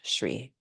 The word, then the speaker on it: Shri: beauty um it's it's called Shri and s r i pronounced s Shri inhale reach up hands